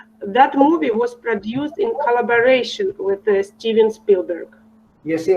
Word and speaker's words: collaboration: That movie was produced in collaboration with Steven Spielberg. You see, Olga, when you pronounce it very well, your communication, you see, I said communication, your communication is better.